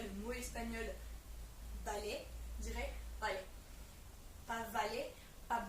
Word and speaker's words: vale: qu'on utilise ce mot-là, on dit balai, donc ça s'écrit valet, V-A-L-E, mais on le dit balai parce que du coup on prononce le B et le B, B.